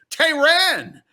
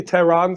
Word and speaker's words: Tehran: Welcome, international comedian sensation, the multicultural, multi-talented, multi-religious Tehran. How are you? It's actually Tehran, Scott. It's Tehran, and every time you mispronounce my name, it's an international incident since it is the capital of Iran.